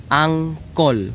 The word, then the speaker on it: angkol: A-N-T-E, and uncle, ang, or as if A-N-G-K-L-E, angkol, or K-O-L. That's better pronunciation there, or yeah.